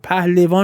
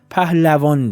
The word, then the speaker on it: pahlavān: Please remember that if you often use the term: "pahlevān" is not correct, "pahlavān" is the correct pronounciation. Because it comes from the term "pahlav" "Pazhoohandeh" means researcher, quester.